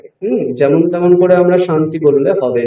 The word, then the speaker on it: শান্তি: শান্তি, ওই টি ইকারটাকে আমরা বেশিক্ষণ টানবো না।